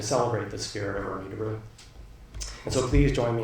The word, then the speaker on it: De Roo: Remy's last name um I've been referring to him for years as daru and then I discovered that he often referred to himself as Doo so um and there